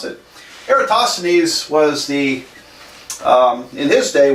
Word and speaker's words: Eratosthenes: all right so is a Greek mathematician Eratosthenes era Oh toss the knees I'm really sure I'm not really totally sure that's how you pronounce it but that's how I always pronounce it Eratosthenes was the in this day was the librarian